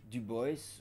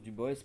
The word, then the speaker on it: Du Bois: aident à beaulieu ebe du boys ou du bois je prononce du boss parce que il insistait pour qu on le prononce comme ça et bien entendu comme